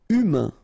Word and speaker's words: humain: Humain, remember, H is not pronounced. A-I-N, un. Humain.